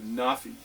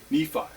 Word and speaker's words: Nephi: The blade is made by a separate tribe, the tribe of Nafi. This tribe's name can also be pronounced Nephi.